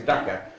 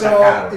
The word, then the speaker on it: Dhaka: Dhaka, it's Dhaka. Not Dakar.